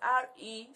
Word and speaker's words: recruit: The next word is R-E-C-R-U-I-T, recruit. Not recruit. Recruit.